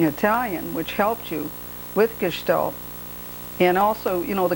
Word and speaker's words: gestalt: roots of being italian which helped you with gestalt and also you know the couple's thera therapy